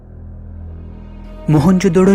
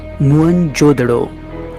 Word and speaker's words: मोहनजोदड़ो: मोहनजोदड़ो शब्द का सही उच्चारण है मुअनजोदड़ो और सिंधी भाषा में इसका अर्थ है मुर्दों का टीला।